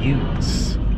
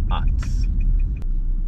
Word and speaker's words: Utz: chips that Utz makes I once worked with a guy who pronounced UTS as use I like those youths you do well that's good because that's not the name of them it's OTs I thought that was